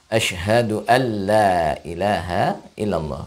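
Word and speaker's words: أشهد أن لا إله إلا الله: Asyhadu anla ilaha illallah bukan Asyhadu Anda tapi asyhadu alla ilaha illallah kemudian kalimat lainnya asyhadualla Oh ya lah itu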